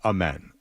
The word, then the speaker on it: Amen: I've heard it pronounced Amen, so I'm doing that.